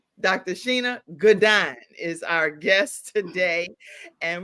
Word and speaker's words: Shana Gourdine: Sheena Goodine. Dr. Sheena Gdine is our guest today.